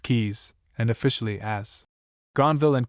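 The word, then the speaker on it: Caius: This college is commonly known as Kais pronounced keys and officially as Gonville and Kais after the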